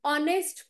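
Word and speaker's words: honest: म्हणून तिथे एन आलेला आहे ही इज एन ऑनेस्ट person आता बघा इथे तर स्पेलिंग एच ने सुरू झालेला आहे बरोबर स्पेलिंग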